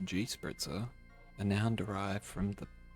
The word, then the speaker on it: Gespritzer: And anyway, it's popular out there and it's used alongside the equally common form Gespritzer, mostly pronounced G-spritzer, a noun derived from the past principle of spritzen, i.e.